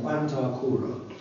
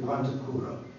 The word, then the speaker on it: Quanta Cura: It signifies a long syllable as is a short syllable. Short would be Quanta Cura. Long, it's Quanta Cura. In other words, the ablative instead of the nominative. The nominative is short, the ablative is long.